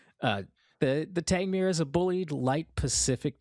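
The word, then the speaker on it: Tangmere: Producer note says it's pronounced Tangmir. Okay. So, we've established it is not Italian. Uh the the Tangmir is a bullied light Pacific type of locomotive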